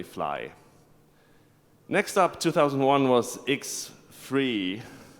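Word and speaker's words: X3D: next up 2001 was X free that's how you pronounce it because it's free as in freedom or free beers and it's still XML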